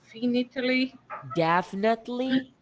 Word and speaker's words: definitely: And definitely. Definitely. Definitely. Isso, pensa em Definitely. 4 e a tônica tá, ó. Definitely.